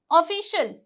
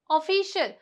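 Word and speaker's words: official: ऑफिशियल ऑफिशियल तो यहां पे इनसे पहले आई ए से पहले क्या है? सी है।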